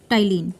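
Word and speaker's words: ptyalin: So the carbohydrate can be digested with the help of salivary amylase, and the alternative name of salivary amylase is ptyline. P is silent here, Ptyline.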